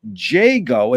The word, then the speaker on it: Jago: Want to welcome today's guest, JGO. Is that how you pronounce it?